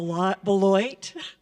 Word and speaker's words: Boilott: of the Blue Ridge my name is booy and I almost pronounced it like everybody else pronounced it because it's spelled that way and I am happy